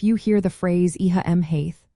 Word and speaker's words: Mhaith: Here, ma, which means good, changes to Mhaith after Oíche. This linguistic feature is a fascinating part of learning Irish pronunciation, as it helps create a smoother flow of sounds.